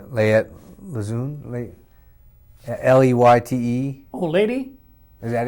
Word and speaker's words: Leyte: Well, and you also went to, and I'm going to pronounce it wrong, Leyte, Leyte? Oh, Lady? Is that it? Lady Luzon? Let's see here. Oh, Lady. Yeah, Lady on Luzon.